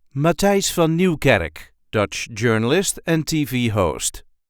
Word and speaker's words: Matthijs van Nieuwkerk: a regular Dutch accent ma F Newar Dutch journalist and TV host the correct pronunciation is ma F Newar ma Newar there is a light emphasis on the first part of the third name Ma f new M